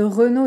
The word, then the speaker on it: Renault: peugeot renault peugeot renault si le r de renault est difficile à prononcer essayer d'ajouter d'abord une consonne devant comme le que de tout à leur creux nos chronos et supprimer ensuite le que renault vous pouvez aussi essayer